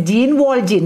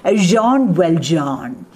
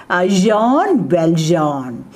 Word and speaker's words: Jean Valjean: But the French pronunciation, the right pronunciation is Jean Valjean. Hereafter use the right French pronunciation. Jean Valjean.